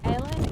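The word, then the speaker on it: Eilean: It's not Ellen or Eileen. It's like in the middle. It's like Ellen. Ellen in Gaelic means island, which is why it's like an island.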